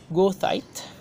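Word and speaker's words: goethite: This is, how do you pronounce it? Gothite, according to the dictionary.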